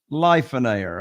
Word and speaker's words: Lifeonaire: It rhymes with millionaire, but pronounced Lifeonaire.